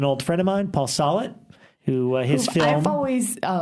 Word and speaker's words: Solet: And they're like, he's like, no, it's Solet.